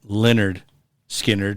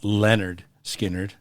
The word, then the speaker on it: Lynyrd Skynyrd: I'm going to try and do my best not to mispronounce the band because I've always pronounced it Lynyrd Skynyrd, not Lynyrd Skynyrd. It's technically Leonard, so we're going to fuck that up.